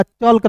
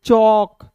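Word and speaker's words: chalk: के को यहां पे बिल्कुल ध्यान से देखिएगा चलकर नहीं पढ़ेंगे इसे पढ़ेंगे चौक यहां पे देखिए ए के बाद दोस्तों एल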